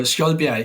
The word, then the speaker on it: Skjoldbjerg: Skjoldbjerg, yeah.